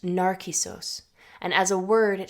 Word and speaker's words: Νάρκισσος: In Greek, Narcissus is pronounced Narcissos, and as a word, it shares the same root as the Greek word narcotic, narke, which means to numb.